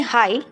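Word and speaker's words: high: इसे बोलते हैं हाई, GH साइलेंट है।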